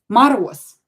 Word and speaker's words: Мороз: You can hear that I pronounce this Z as S here. Мороз. Because voiced consonant at the end of the word becomes unvoiced.